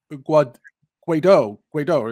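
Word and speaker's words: Guaidó: As far back as Trump's first administration in 2019, the Trump administration recognized the government of Guaido. Is that how you pronounce the gentleman's name?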